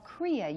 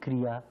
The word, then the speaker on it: Kriya: I'm telling now that in Kriya there is two syllables, Kri and Ya.